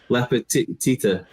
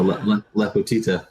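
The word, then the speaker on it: Lepotitsa: So it's Lepetita. It's spelled with a C, but the C is pronounced as a T. Of course. So Lepetita.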